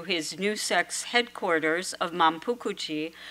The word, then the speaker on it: Manpuku-ji: new sect's headquarters of Manpukuchi, which is the Japanese pronunciation for his Fujian temple, Wanfuse, and he moved to Uji. This temple is located in Uji, south of Kyoto. Manpukuji officially opened in 1663, although construction lasted until 1693.